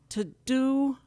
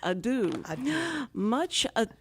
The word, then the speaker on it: Ado: a new play, Much to Do About... We just talked about this. I know, I have to pronounce it correctly, because I thought it was to do, and it's Adoe.